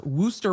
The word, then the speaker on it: Worcester: places in massachusetts i could not pronounce wooster was one of them and now um this